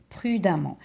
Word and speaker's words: prudemment: écrire jusque là et on va doubler le M et ça devient prudemment avec double em et là ce e on le prononce pas on dit prudemment la même chose pour